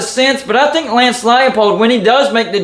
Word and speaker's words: Leipold: I've been calling him Lance Leipold for the longest time, when it's actually Lance Leipold.